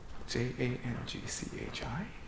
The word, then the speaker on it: Jang-Chi: Also, I think Jang-Chi is Korean name? J-A-N-G-C-H-I? My name is written with the Chinese characters. Pronounced "" in Japanese, "Jang-Chi" in Korean.